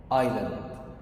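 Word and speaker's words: island: طب الكلمة دي معناها جزيرة، بتنطقها ازاي؟ ايلاند.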